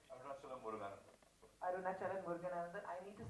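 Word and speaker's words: Arunachalam Muruganantham: Arunachalam Muruganandan.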